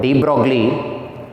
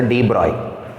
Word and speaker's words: de Broglie: Actually, we should not pronounce it as de Broglie. It is a de Broglie. De Broglie waves or matter waves.